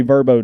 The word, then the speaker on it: VRBO: It does appear to be Verbo now.